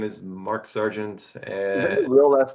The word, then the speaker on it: Sargent: uh Ken Sargent essay but it's spelled different so it's s-a-r-g-e-n-t yeah it's not it's not the military there's three types of spellings or this one's s-a-r-g-e-n-t like phonetically how it sounds yeah well I believe